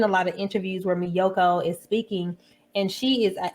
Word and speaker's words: Miyoko: made a video and i was pronouncing this my yokos it is pronounced and she reads right it reads right here in the back miyoko so i apologize for